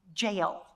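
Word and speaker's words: Jael: the first one is the woman named jail that is her actual name jail it's spelled j-a-e-l not j-a-i-l but in judges 5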